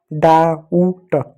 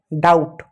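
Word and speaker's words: doubt: क्या हो गया डाउट डाउट तो सवाल इस बी का क्या हुआ जवाब है बी साइलेंट है यहां पर अब कैसे पता चलेगा बी साइलेंट है बी को नहीं पढ़ना है नहीं बोलना है।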